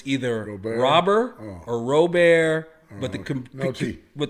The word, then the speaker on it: Robert: Bo Bashette Luis Rober Robert I've heard that the Cubans don't pronounce their T's. So it's either Robert or Rober but the but the Cubans don't pronounce their T's.